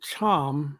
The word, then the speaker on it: Thiam: his last name is spelled t-h-i-m but he pronounces it charm child but doctor oh man how are you